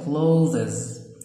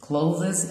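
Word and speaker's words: clothes: اوكي، او ممكن ننطق التي اتش دال وننطق الاي اس زين، يبقى كلوزز. كلوزز او كلوز الاثنين صح.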